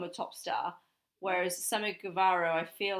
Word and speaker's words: Guevara: on to make it look fantastic maybe sammy guerrero guevara sorry i've pronounced it wrong the whole time i thought